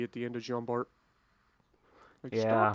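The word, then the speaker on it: Jean Bart: t it's it's pronounced john barr okay i'm not french calm down well yeah it is literally spelled bart but you know the french they don't pronounce the consonants people get bent out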